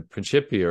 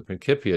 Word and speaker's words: Principia: like Newton in writing the principia or the principia depending on your preferred Latin pronunciation uh that Newton was